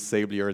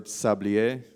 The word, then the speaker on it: Sablier: I typically use Sablier the the American way just because English is the way, but the word actually means hourglass in French. So, if you prefer Sablier, you can go with that.